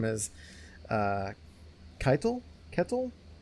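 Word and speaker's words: Ketil: So eventually we get in gets bought by uh this character whose name is uh Kitle. Kettle. How did you pronounce his name? Kettle.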